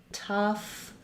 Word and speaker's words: tough: I think of rewriting the word tough or rough with those letters UFF because I associate those with that sound. And you'll see maybe in